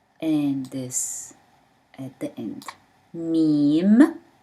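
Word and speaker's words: ميم: Meme, mean, pronounced as M.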